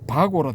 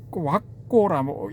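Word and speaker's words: vagga: 바고라 되어 있는데 왁고라고 읽어야 된답니다.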